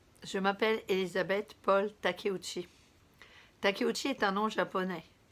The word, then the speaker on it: Takeuchi: plus noble qui en cure samouraï revenons à takeuchi mon nom qui s'écrit comme intérieur de bambou qu'est ce que